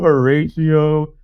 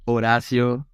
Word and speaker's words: Horacio: this my name is Horacio Jr yeah very nice uh yeah like it's because in Spanish the the H is silent you know so it doesn't exist uh and you know